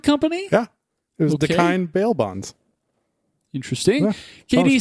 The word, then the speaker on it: Dakine: years old, when I learned how that was pronounced. Dakine. Contigo. Kevin says gear. Andy says surf. Also the name of Dog the Bounty Hunter Bail Bond Company. Yeah. It was Okay. Dakine bail bonds.